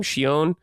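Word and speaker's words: Shionne: Shon.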